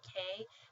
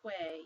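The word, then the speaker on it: qué: word meaning what but you don't pronounce it as Quay you pronounce it as k okay um The Double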